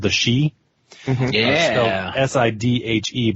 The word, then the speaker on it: Sidhe: Sidhe, but pronounced she.